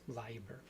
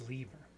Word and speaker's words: Leiber: I want to talk about the very first story, very first professional sale by Fritz Leiber.